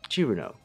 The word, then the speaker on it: Cirno: pronunciation of them all the fairy's name in japanese is chiruno simple enough when romanizing